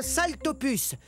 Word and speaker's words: Saltopus: désolé je neai plus salut je suis un saltopus ça se prononce sal ce qui veut dire pice sa